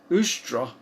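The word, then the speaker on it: Ēostre: word easter comes from a word pronounced in its original language is ustra and ustra was the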